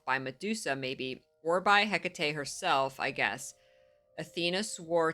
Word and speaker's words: Hecate: I couldn't remember how they pronounced it. Hecate, that's right.